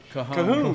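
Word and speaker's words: cajón: And I played that that beat box that kahoon kahoon. It's spelled it's spelled cinjun but yeah it's kahoon.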